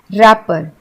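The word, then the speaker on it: wrapper: अब इसको हम वपर नहीं बोलते हैं क्योंकि इसमें डब्ल्यू साइलेंट है। हम इसे बोलते हैं रैपर।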